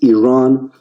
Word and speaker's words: Iran: our country's name wrong our country is named Iran not Iran it is once and for